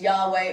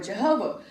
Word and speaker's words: Yahweh: From Wikipedia, it says, in addition to the personal name of God, and everybody's seen this before, the YHWH, but it's pronounced with vocalizations Yahweh or Jehovah, and that's what most people say.